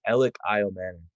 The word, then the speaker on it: Elic Ayomanor: make sure we're saying it right sure it's alex isle manning okay okay so it's alex okay yeah we